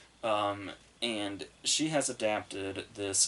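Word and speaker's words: Heder: it looks like it's it looks like heater but apparently it's pronounced like bill hader and she has adapted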